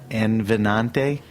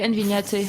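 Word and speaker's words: Envínate: I don't know if I'm pronouncing it right. Envinante? Yeah, Envignate.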